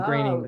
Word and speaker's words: Groening: It's pronounced graining. Oh, That's Matt how you, Groening. graining rhymes with raining.